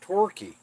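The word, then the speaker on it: Torquay: Plymouth exor and T that is so weird that that's pronounced T thank you so much for clearing that up now I got to try to remember it cuz I know I'm going to want to say tqu or tqu basketball and football yeah I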